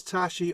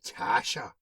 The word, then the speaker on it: Tashi: So why did you call him Tasha? One of the old boys asks. Tashi glowers at him darkly, but I choose to ignore his mispronunciation and answer his question.